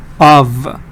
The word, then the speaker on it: of: voice I'll be careful sometimes the F sound can be pronounced like the V sound so you see F but the the actual pronunciation is the ve sound of of you see F